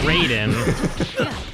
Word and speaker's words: Raiden: Well, I mean, you're not wrong, and you can't argue this because Mortal Kombat's American, and they say it's Raiden.